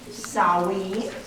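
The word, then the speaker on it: Samhain: ended the GIC word meaning Summer's end is pronounced sa in Ireland saen in Wales sain in Scotland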